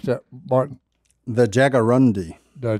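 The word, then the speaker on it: jaguarundi: and there's a bobcat siiz feline how you pronounce that Martin the Jagger rundi the Jager rundi the species is almost extinct in the United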